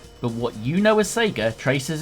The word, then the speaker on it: Sega: who are terminally online arguing between Sega and Sega for pronunciation if anything it should surely be Sega the Japanese business we